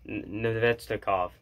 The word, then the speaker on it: Nedeljkovic: I don't know how it works, but Nedeljkovic. That's how you pronounce it, just like that.